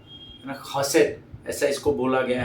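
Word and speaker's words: chesed: बहुत ही अलग है स्पेलिंग है सी एच ई एस ई डी पर इसका प्रोनाउंसिएशन होता है खसेट खसेट है ना अब उसमें जो डी है वो बहुत साइलेंट है खसेट ऐसा बोला जाता है इसको ट नहीं है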